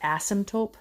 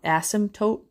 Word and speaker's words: asymptote: You've been seeing the word asymptote. I said it wrong. Asymptote a lot.